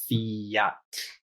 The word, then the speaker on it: fjall: The J is like a Y. So again, the word for mountain, fjall is FJ, fjall, double L, TL. Those are just a few examples.